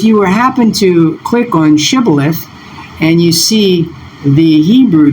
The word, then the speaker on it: shibboleth: what you notice is the first letter here is the shun, the letter that has the SH sound. And then when you compare it with the sibboleth, you notice that it